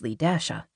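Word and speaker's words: LeDasha: The girl's mother had explained that her daughter's name was Lee Dasha. Evidently, the dash in L E- A wasn't silent.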